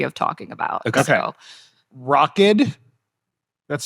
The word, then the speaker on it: Rokid: So, Rockid, that's spelled R-O-K-I-D.